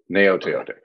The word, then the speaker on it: Gaoteote: The G is silent like lasagna. Gaoteote.